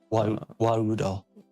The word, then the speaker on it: Warudo: Okay, so you use Warudo to, or Warudo, however you want to say it. I'm not the expert. I'm actually the worst. No, you actually said it right.